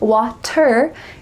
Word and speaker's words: water: What's the sound that you hear in the middle of this word? Water, water. Well, it's not a T sound, water. Instead, it's a D. Here we have again, the T is changing to a D. This is typical in American English.